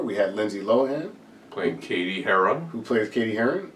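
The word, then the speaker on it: Cady: above KD K KD I was reading it as KD that's the way I was hearing it like uh um but then they kept calling her CAD yeah that was so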